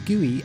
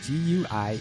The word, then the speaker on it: GUI: no it's not gooey as in sticky it's gooey as in graphical user interface because that's how i pronounce it you can say gui if you want but you'll sound like a